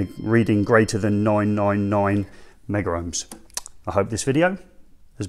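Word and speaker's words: megohm: Sometimes people like to pronounce that as meg ohms. Generally, we've been going with mega ohms.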